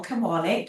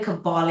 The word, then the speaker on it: Kabaale: So everywhere on the internet, my name is simply Kabal. like Christmas and cabal is spelled like k a b a a a l e.